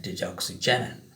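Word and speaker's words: digoxigenin: labeled at its three prime end with the deoxy genim Gen let me spell that again or pronounce that again deoxy genine the low molecular weight compound dioxygen and serves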